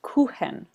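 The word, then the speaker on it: Kuchen: spelled k u c hen it's pronounced it's pronounced kenen so tell me about your FL Ken MIT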